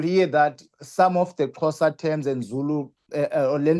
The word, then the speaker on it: Xhosa: Sosa? That is Xhosa. Xhosa. I'm coming from a closer Oh, see, I tribe. can't pronounce it right.